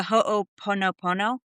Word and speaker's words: Ho'oponopono: But the Ho'oponopono?